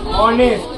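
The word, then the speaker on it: honest: এইচ ও এন ই এস টি কি হলো অনেস্ট এবার খেয়াল করো এইচ এর উচ্চারণ এখানে হয় না ঠিক আছে আচ্ছা আমি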